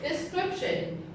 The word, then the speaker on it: description: description and this word description it is also a noun and it has three syllables the scrip shin so the stress is under there the second syllable description okay in the description